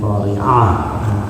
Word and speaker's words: القارعة: Qari'ah hamzah dengan Qari'ah ain beda artinya.